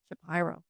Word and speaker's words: Shapiro: Shapyro.